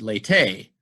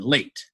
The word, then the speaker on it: late: The E is silent. We don't say dete, fete, late. That E is there to indicate that this word's not dat, fat, or lat. It's date, fate, and late. It makes the vowel long.